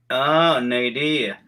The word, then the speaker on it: Nerea: How do you pronounce your name? Nerea. Okay. Nerea. Yes. Nerea.